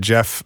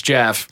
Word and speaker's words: Gef: I saw a couple different stories where they said pronunciation at the time of a G starting name would be like a G sound instead of a J sound.